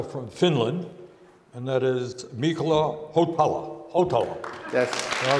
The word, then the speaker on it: Mikko Hautala: And I am especially delighted, and I want to get the pronunciation right, that we have the ambassador from Finland, and that is Mikko Hautala.